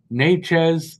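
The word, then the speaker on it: Nečas: Natchez, that's how it's pronounced now.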